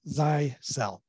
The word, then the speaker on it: Zyxel: yeah there you go but officially zai cell oh good here's one